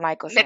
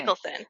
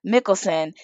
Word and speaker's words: Mickelson: This book is releasing, Alex, and you said Mickelson. It's not Michelson. Mickelson. Mickelson.